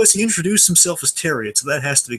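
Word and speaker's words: Thieriot: So we know Freddie Highmore, and I've looked it up, so we finally got a pronunciation to do correct this season. Terriot. Max Terriot. Max Terriot.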